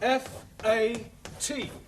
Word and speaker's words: fat: give you some examples let us take the word f a t now that has a flat a sound good but if we